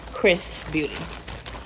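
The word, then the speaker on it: XRS Beauty: were kind of wondering Chris is XRS but it's pronounced Chris Beauty okay so this is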